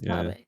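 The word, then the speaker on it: Taabe: I like, I think Tabe. I don't know how you pronounce his name. I think it's her Tabe. brother. It's Tabe.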